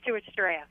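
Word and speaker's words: Stuarts Draft: how do you say that that's right it's Stuarts draff okay well hey thanks for calling us thanks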